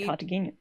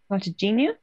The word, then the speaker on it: Cartagena: Cartagena.